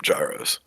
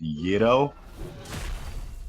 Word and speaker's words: gyro: in college called eurogyro that's why i've always called them gyros it's uh it's pronounced yeto well the store was